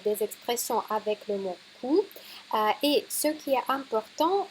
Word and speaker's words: coup: à notre cours aujourd'hui il faut vraiment savoir prononcer le mot à coup ouais avec le son ou parce que si vous dites Q ça va être une chose tout à fait différente alors si vous si